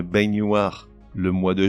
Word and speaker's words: baignoire: un ou une poêle une baignoire mais une baignoire le mois de juin